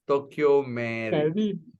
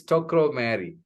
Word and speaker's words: Tokro Mary: Actually, Tokro Mary, your name is, I always pronounce it as Tokyo Mary. I don't know why, but it's Tokro Mary.